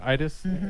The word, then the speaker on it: Iriz: Am I pronouncing that correctly? Iriz. Yeah, Iriz.